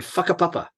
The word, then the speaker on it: Whakapapa: And there's 2 separate skiing areas on opposite sides of the volcano, Turoa and Whakapapa. That's how you pronounce that.